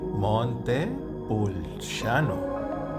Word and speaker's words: Montepulciano: Another place here in Tuscany, Italy, is Montepulciano, and that's called Baron. My 19-year-old son driving his favorite vehicle, the Audi Q8. So visiting Montepulciano. How do you pronounce it again? Montepulciano.